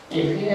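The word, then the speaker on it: אֶהְיֶה: 예흐에 아슈에 예흐에 이렇게 했거든요.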